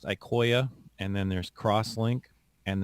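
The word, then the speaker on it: IQOYA: all today is that the ecoya line is pronounced ikoya and then there's crosslink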